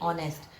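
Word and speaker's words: honest: ईमानदार की इंग्लिश क्या होती है? ऑनेस्ट. एच इसमें साइलेंट होता है.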